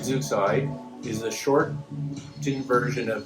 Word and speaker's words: Zooxae: So Zeuxide, we pronounce it Zeuxide, is a shortened version of Zooxanthellae algae, which is the symbiotic algae found in coral.